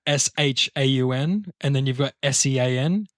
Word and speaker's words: Shaun: you pronounce Right? it. That's Yeah. what I thought. Shaun. Sean.